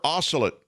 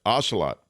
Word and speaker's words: ocelot: 11 different biological communities a rare oscillate is it ocelot is that what those is that how they say it yeah ocelot in these shadowy brushes uh